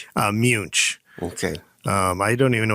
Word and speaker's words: Muench: This is how do you pronounce the name Muench? Munch.